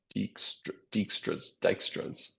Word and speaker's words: Dijkstra: And with that, I am finally done talking about Dijkstras. I'm going to Google how to pronounce this actually, while you all think about any questions.